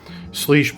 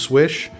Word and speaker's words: Slysz: exclusive sleesh buoy yes i know it's probably pronounced swish and it's bowie not buoy but uh having lived in the dc area you know bowie maryland i just can't help but to call it buoy so i'm gonna mispronounce